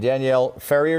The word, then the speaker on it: Danielle Ferrier: CEO of the YMCA of Greater Boston, and Danielle Ferrier, did I pronounce it correctly?